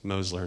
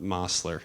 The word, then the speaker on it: Mosler: Our voiceover did not pronounce it properly, so before you run me out or people start leaving in the middle of this video, I promise that I know that it's Mosler, not Mosler, as you will hear.